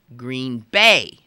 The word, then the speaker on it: Green Bay: If you're from that place, you say Green Bay. The idea being that the adjective green is not as important as the noun bay.